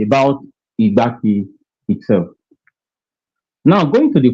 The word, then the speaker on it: Igbanke: Though it is pronounced as if as if the last letter is I but in written it is E.